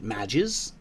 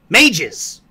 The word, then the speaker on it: mages: of the abyss did did you just pronounce it madges mages not matches no god it's like pages mages come on i know